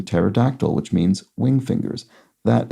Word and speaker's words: pterodactyl: helicopter meaning spiral Wing the last word has a silent p as it's the same root as in pterodactyl which means Wing fingers